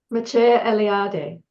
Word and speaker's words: Mircea Eliade: Mircea Eliade.